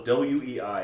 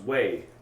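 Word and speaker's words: Wei: Because the pronunciation, like the way it was spelled was W-E-I, and he thought it was we. And it's like, no, that it's pronounced way.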